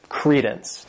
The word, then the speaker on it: credence: This word has two syllables and the stress is on that first syllable, credence.